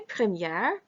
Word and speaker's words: première: When we say première, notice that you hear the R sound pronounced.